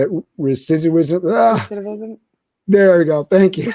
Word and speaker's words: recidivism: And then you're dealing with, on the other side of it, I'm going to butcher the word, but how you say it, recidivism. Recidivism.